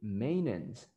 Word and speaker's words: maintenance: So another word is this one that is super common, and you pronounce it maintenance, maintenance, maintenance.